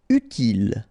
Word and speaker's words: utile: Utile, final E not pronounced, utile.